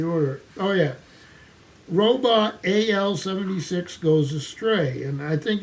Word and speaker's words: AL: Oh yeah, Robot AL-76 goes astray, and I think you're supposed to pronounce the robot and call him Al.